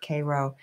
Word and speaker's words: Cairo: It looks like it says Cairo, like Cairo, Egypt, but they pronounced it Cairo.